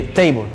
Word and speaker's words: table: de la de muda la muda indica que toda palabra que finaliza en una en esta se elimina por ejemplo la palabra table que se escribe table pero se le table ahora vamos a saber